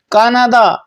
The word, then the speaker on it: کانادا: کاناڈا، Canada کے لیے فارسی زبان میں کاناڈا کا تلفظ استعمال کیا جاتا ہے.